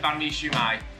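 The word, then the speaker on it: Bánh Mì Xíu Mại: Yeah, Banh Mi Xiu Mai.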